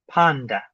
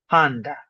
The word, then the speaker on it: panda: And that one might be less obvious, but notice consonants do not constitute a syllable. They need a vowel. So the syllable is pa, da, panda, panda, with the vowels. So the first a is accented.